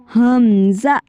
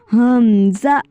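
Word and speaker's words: همزة: को देख लेते हैं इसके सेम प्रोनाउंस होगा लोवर थो से निचले हलक से हमजा थोड़ा सा इसको झटका देके करते हैं हमजा यह एक चा हर्फ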